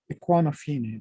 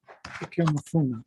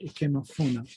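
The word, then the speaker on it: Ikemefuna: And that is how he ends up being the foster parent to Equanafine, right? Ikemafuna, right? Ikemafuna.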